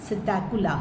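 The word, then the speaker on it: Psittacula: कोरवस crow Columba pigeon सकला piece silent है इसमें पैरेट स्ट्रुथिओ जो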